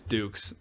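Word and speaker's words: Dux: not familiar what Tyson is it dukes or ducks I can't pronounce his name it's dukes Duke Dukes the the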